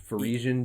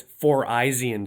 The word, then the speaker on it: Phyrexian: And then there's Pharesian Giant well, or something. it's phonetically Pharesian Giant, but it's Four-Eyesian Giant because it's evil giant of 4 eyes or whatever from Alpha and Beta or whatever, and they made Four-Eyesian Totem.